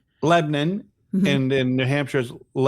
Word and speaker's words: Lebanon: Actually, you you over pronounced it for over pronounced it for Tennessee. It's Lebanon. Lebanon and in New Hampshire it's Lebanon and in Maine it's Lebanon.